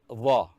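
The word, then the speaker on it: ظ: In Dha, the Dha sound should be hard, and also it should be pronounced as if the mouth is filled with something. Dha should be pronounced as the tip of the tongue should come out, come out of the mouth between the teeth.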